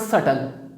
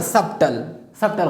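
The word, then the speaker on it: subtle: Number next word सटल। You know very well that I don't pronounce the letter B. सटल। मैं इस तरह नहीं पढ़ता सबटल गलत है, सटल।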